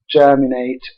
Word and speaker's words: germinate: it was found that words like cognate percolate germinate which are stressed on the first syllable were stressed by our